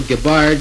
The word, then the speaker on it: Gibbard: Hi there, this is Gibbard, sometimes pronounced Gibbard, and I come from Stratford, Ontario, Canada, home